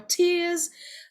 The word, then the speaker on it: tear: The same spelling, but different pronunciation. This is tear, air and tear. The act of pulling something apart.